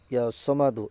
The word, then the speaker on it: ইয়া সামাদু: সঠিকভাবে উচ্চারণ করবেন ইয়া সমাদু এর কিন্তু বিশেষ ফজিলত গুনাগুন রয়েছে।